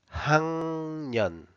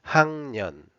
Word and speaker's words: 학년: 학년, 학년. This is another example of the difference between the spelling and the pronunciation.